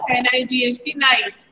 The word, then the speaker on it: knight: K is silent, जो K है ना वो साइलेंट है, और हम क्या पढ़ेंगे इसको? NIGHT, नाइट।